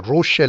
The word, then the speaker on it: Roche: So we will stick to the English pronunciation which is called a Rocher limit.